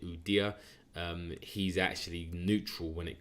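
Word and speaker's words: Ueda: I think that the Japanese yen at the moment, their nominated new governor, I think his name, you pronounce it Udia.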